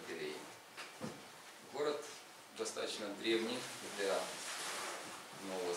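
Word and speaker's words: Belém: Пишется он Белен, читается по правилам португальского языка Белен, но бразильцы его несколько модифицировали, поэтому произносят город как Белей.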